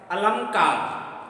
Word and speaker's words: अलंकार: पर लिखा है अलंकार शुद्ध रूप से इसका उच्चारण किया जाए तो अनुस्वार लगा हुआ है अलंकार अर्थात अलंकार शब्द ने